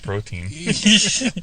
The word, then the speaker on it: Protean: don't get the conspiracy i just want to make sure people are pronouncing it protein oh we've got it